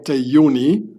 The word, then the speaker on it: Juni: So on the left hand side is the German terror organization Yuni the 2nd of June. I pronounc it in the German name because they were Germans and they were founded in 1972.